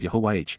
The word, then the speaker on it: Yahowah: YAHOWAH, YAHOWAH, the proper pronunciation of YAHOWAH, God's personal and proper name based upon Haya,